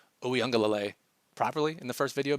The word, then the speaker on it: Uiagalelei: Behind him is undrafted free agent DJ Uiagalelei. Now, if you thought I was going to wait 5 months for NFL videos and not pronounce Uiagalelei properly in the first video back, you're out of your mind.